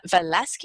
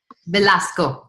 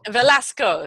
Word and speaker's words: Velasco: try and pronounce surface surname velasca Oh have I got it right Velasco Velasco there we go because I don't want